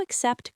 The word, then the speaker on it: accept: Do you accept credit cards? Deep dive. Except the first C is K. The second is S.